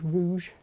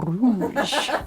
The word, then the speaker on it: rouge: I can manage rouge. Rouge. Like that word. It's a good word. Yeah. You're supposed to roll the R though, aren't you? Go on. Oh, rouge.